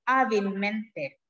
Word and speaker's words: hábilmente: Cuando yo lo pronuncio, tengo esa doble fuerza de voz. Yo digo hábilmente, ¿sí?